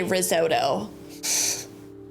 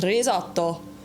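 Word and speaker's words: risotto: Or if you're American, you say risoto, but in Italian, it's pronounced rizoto.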